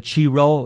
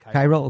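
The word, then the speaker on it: Chi Rho: shields it's called I don't know if I'm pronouncing it right the cheero is the first two letters of Christ's name in Greek and it was pyro ever to think Cairo Cairo yeah that makes sense and and so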